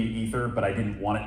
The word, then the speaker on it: aether: So ether spelled with an A is supposed to be ether, but I didn't want it pronounced like that, so it's aether.